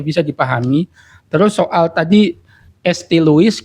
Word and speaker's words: St. Louis: Terus soal tadi ST Luis gitu kan dibacanya St. Louis Santo kan gitu. Memang dia dari Prancis. Louis seharusnya kalau dibaca bahasa Prancis tapi Luis karena Amerika.